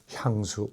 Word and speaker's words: 향수: 이거는 그런데 발음이 똑같아요. 하나가 길고 하나가 짧은 게 아니라 둘 다 향수, 이렇게 짧게.